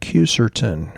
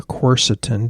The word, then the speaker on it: quercetin: Leakiness can be reduced by herbs like quercetin or corsetin, depending on how you want to pronounce it.